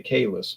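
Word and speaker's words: Calais: Then we drove back into Maine crossed at a town called Kais, which I would pronounce at Cal Kala, but they say Kais, but I say Cala.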